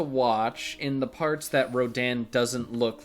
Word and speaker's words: Rodan: make me forget that rodan's name is rodin because in the dub it is pronounced they well it's not pronounced they say radon right on i'm not sure